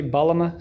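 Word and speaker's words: bağlama: in turkey called the if i'm saying it correctly balama size you've got it all right cool can you anything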